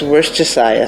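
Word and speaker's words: Worcestershire: Now, one of the most hard pronounced words or combinants out there is worst sauce. It's worstayia sauce.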